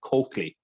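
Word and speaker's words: Colclough: For some reason that's known only to Wexford people, you actually pronounce this guy's name as Coakley, right? But in any event, this guy Coakley had led a United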